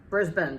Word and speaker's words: Brisbane: So I flew all the way out to the Gold Coast, where Brisbane, that's how you pronounce it.